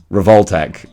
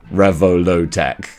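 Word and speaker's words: Revoltech: who first sort of made me realize that it's pronounced revoltek and or reveltech and not Revo low Tech shout out to Dave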